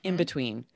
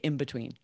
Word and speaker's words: in between: examples first of all if we say in between we change that n we don't say in between it becomes an m it's like in between because it's faster for us to have the m sound before the b so natives will always say in between exactly so this happens